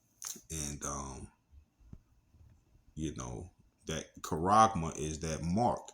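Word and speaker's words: χάραγμα: All right, and it's pronounced Strong's G5480, Charagma, or Charagma.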